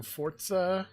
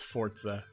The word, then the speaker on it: Forza: i have been playing forza which by the way it's pronounced forza i think that sounds like the way it would be pronounced if someone didn't know how to pronounce it but it's forza uh anyway i've been